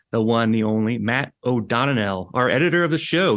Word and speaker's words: O'Donnell: It's O'Donnell. So think of the E more like like a U would be the right way to, the more right way to say it.